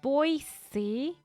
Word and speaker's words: Boise: all the music is so great here it's pronounced boise boise why boise why dude english is so